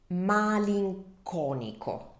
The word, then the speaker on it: malinconico: So pay attention to this because the pronunciation can be tricky as it's quite similar to the English form.